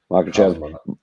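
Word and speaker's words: Makhachev: fights yeah for sure June 1st UFC 302 mock of ch pronounce it for me Trey you're good at these makach versus porier uh June 1st Islam you mean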